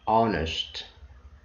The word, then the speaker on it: honest: comes after w and number two h is not pronounced at the beginning of many words such as r let's see the